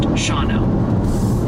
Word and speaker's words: Shawano: Quick tip from your viewers, Shawano is pronounced Shawno.